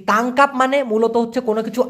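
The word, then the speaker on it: tangkap: একটু খেয়াল করে দেখুন টি এন জি তাং কে এ পি কি হলো টাংকা কাপ তাই না টাং কাপ এই তাংকাপ মানে মূলত হচ্ছে কোন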